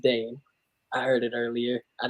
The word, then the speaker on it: Dhane: And just so you guys know, it is pronounced Dane. I heard it earlier. I just wanted to it's pronounced what? I said Dane.